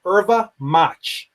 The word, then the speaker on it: erva mate: It's spelled erva mate phonetically, but it's pronounced erva mate, E-R-V-A.